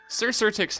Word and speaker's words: Cxyrtyx: what Scissortix No. It's not pronounced Scissortix. Sir Sirtix has the special quality about him that his name is spelt like the stupidest way possible.